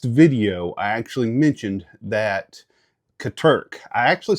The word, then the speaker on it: Katerk: Uh, last video I actually mentioned that Katurk, I actually said their name wrong in the last video. If you if you see it, uh, I said, it's actually Katurk.